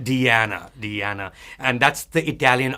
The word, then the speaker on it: Diana: but it's very different it's an Italian pronunciation right so I'm going to be very very careful say Diana with a with a duh or a duh d d Diana Diana and that's the